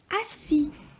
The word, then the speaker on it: assis: On a écrit double S parce que si on écrit un seul S, on va prononcer Z, parce que la lettre S est entre 2 voyelles.